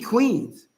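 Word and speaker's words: quean: oh we Queens we Queens let's see Queen Q EA n you say it like this queen so we already know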